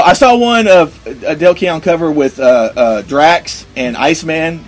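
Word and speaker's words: Dale Keown: Also, you need to see if you can find the awesome Del Keown, is that how you say his name?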